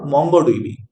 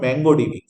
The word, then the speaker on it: MongoDB: so this is what mongodb it is not mango DB okay some student mispronounce it say like mango DV it is not mango it is what right so this is